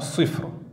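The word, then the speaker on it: صفر: va dire en arabe sifr. Donc sifrun, mais rappelez-vous, quand on termine un mot, on ne prononce pas la dernière voyelle.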